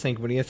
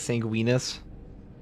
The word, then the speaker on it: Sanguinius: My friend pronounces Sanguinius as Sanguinus. Doesn't even make sense. Like okay, he's a blood guy. They're the blood angels. It's like it's the most obvious pronunciation ever.